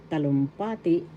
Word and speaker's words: talumpati: and the fourth is talumpati speech oration or declamation talumpati first syllable ta second syllable lum third syllable pa and fourth syllable t talumpati the third syllable has the action talumpati talumpati that's speech